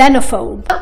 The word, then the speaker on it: xenophobe: ولكن أول الكلمة ما بننطقه بهالطريقة، أول الكلمة حرف الإكس بيتنطق كأنه ز xenophobe.